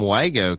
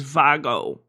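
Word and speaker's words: WAGO: I always call them WGO connectors. Well, technically the German pronunciation is VGO.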